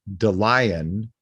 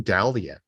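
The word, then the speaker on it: Dallion: keeper yeah bro um also Ryan pronounces his last name in this episode The Lion Ryan the lion but I thought it was Ryan dallian I didn't know his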